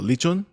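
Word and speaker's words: lechon: they we had a leachon a roasted pig yes how do you sweat how do you say it roasted pig no lichon sure yeah anyways yeah roasted pig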